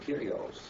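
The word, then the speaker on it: κύριος: When he told him that the Lord, Kyrios, did I pronounce that correctly, brother?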